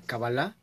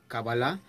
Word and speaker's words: Kabbalah: En el principio del programa les mencionaba que hay quien pronuncia Cábala y hay quien pronuncia Kabbalah.